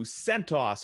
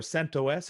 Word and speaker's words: CentOS: Here we've got number 2, CentOS or CentOS. It depends how you want to pronounce it.